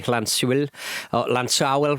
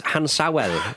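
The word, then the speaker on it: Llansawel: TNS are playing Britain Ferry Lansawel rather. You can do the Welsh because your mother's famously Welsh. Yeah, well, I mean, producer Rory's written it phonetically as Hansawel. It's not a H, is it?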